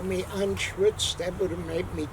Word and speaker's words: Anschütz: But how do you pronounce that? Anschutz. Anschutz.